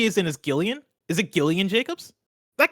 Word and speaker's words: Jillian: of Funny You're Wrong, says Jillian is pronounced with a hard G. Shaking my head. Blessing, I thought you were a fan. Hold on. Like a hard G is in is Gillian?